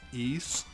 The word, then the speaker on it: Ys: the ease series or some people call it the wives of the ys but everything I can find it's pronounced East and again this let's